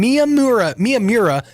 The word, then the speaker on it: Miyamura: pronunciations of it, but I checked online. Miyamura is the correct pronunciation.